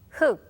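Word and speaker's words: 흙: 흑, 흑, 흑. Now, we can't hear the real sound. When this character stands alone, the real sound is silent.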